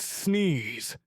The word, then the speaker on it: CCNS: Call it CCNS for short, pronounced sneeze.